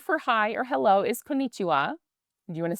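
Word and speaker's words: こんにちは: So the word for hi or hello is konichiwa. Do you want to say that back or should we do it in like syllables like Yeah, there you go.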